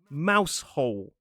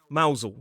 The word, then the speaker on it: Mousehole: It is a beautiful place to visit and you might see a place which looks like Mousehole, but actually the pronunciation is not mouse hole. It is Mousel.